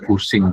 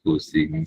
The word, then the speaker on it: Cushing: Ini katanya bacanya pusing tetap pusing gitu. Pusing sama orang katanya. Iya karena nama orang gitu ya ejaannya seperti itu dia bacanya kusing sindrom ee ya koreksi kalau saya salah ya.